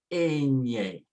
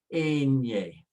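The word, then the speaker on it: eñe: The N with the little line above it called the tilde gives you an NY sound, like in the words canyon, onion. You have to put the sound into your nose. Say canyon, onion. And now pronounce the A, and then the Nye. So you say Enye, Enye.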